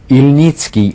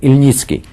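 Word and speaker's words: Ilnicki: a certain guy called Petro IL nitsky I'll spell it p-e-t-r-o Petro which is the first name ilnitzki i l n i c k i surname illnessky right and they had an agreement that they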